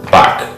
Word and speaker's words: 박: We'll begin with the first syllable, Bak.